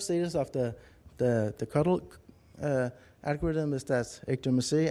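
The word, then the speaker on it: CoDel: uh control Q delay spelled c o DL but pronounced cuddle that's I don't know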